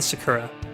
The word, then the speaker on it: sakura: Let me read an excerpt from the Library of Congress about the sakura. And I think I'm pronouncing that right. It's S-A-K-U-R-A, sakura.